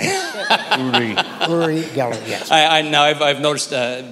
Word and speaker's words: Uri: Uri is the right pronunciation. Always call the devil by his right name. Uri.